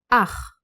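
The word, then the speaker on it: אח: It just keeps the original sound of the consonant. Like in Ach. Ach is a brother.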